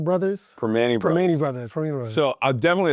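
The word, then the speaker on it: Primanti: Soft pretzel or I can never pronounce this right. Pertima Brothers? Permane Brothers.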